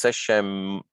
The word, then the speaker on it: seshemut: So technically you should pronounce the T first, but this is the exception. When you have bird signs, usually the bird sign is pronounced first. So it's seshemut.